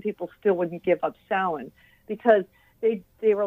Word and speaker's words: Samhain: the John Carpenter movie, they pronounce it Samhain as if it's like a person named Sam. But yeah, because it's Celtic, it's got a weird pronunciation. So, yeah, it is actually pronounced Samhain.